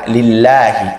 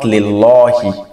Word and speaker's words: لِلَّهِ: Because the name of Allah, when it is preceded by kisra, we pronounce it as la, lillahi, not lillahi, mashallah.